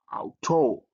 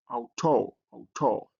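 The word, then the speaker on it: αὐτό: And the next one is ow. So how you pronounce it as in out. So you have this word here, auto, auto.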